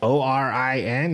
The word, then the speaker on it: Auryn: Auryn. It does help to spell it because it's not. it's not intuitive. It'd be like Orin.